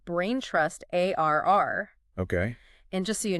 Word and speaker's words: AIR: about their new AI recruiting tool called Braintrust ARR. Okay. And just so you know, it's not an acronym. Oh, really? Yeah, you just pronounce it like the word air.